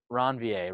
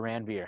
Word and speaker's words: Ranvier: talking about in the nodes of ranvier right or ranveer however you want to pronounce it all right so a